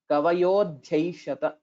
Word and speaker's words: कवयोध्यैषत: Except for the second pada, kavayodhyaishata. That word was not pronounced well.